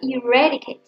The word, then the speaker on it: eradicate: Cái từ eradicate trọng âm dư và âm thứ hai các bạn nhá, eradicate.